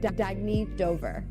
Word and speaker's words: Dagny Dover: good you can live life intentionally oh it's pronounced Dagny Dover Dagny means new dawn it's a new dawn